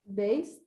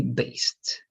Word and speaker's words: based: the idi right remember what happens if you don't have the t or the d what is the going to be the pronunciation for the d based based ah exactly right not base it only based right good so predictions based